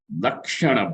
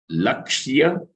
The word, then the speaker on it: Lakshya: So now, the third type, which is Lakshya Lakshana Bhava. Train your tongue to make the correct pronunciations. It is not Laksha Lakshana. Lakshya Lakshana Bhava. Lakshya Yakara is there.